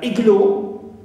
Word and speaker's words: igloo: Example, the word igloo, though it ends with o, but we stress the first syllable, not the suffix.